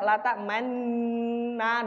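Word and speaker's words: لا تأمنا: Nah, itu tulisannya biasa la ta'manna, tapi kenapa kok bacanya dadak la ta'manna, dadak mencucu?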